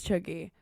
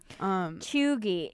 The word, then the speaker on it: cheugy: What else is chuggy? Cheugy.